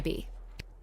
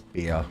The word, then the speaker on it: Bea: But you can call me B. Gotcha. Oh. And what's so great about this place? I still always pronounce B-E-A as beer rather than B.